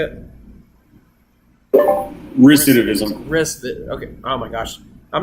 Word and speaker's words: recidivism: it's like what you were saying about the aciditism rape is that how you say it recidivism okay oh my gosh i'm not gonna say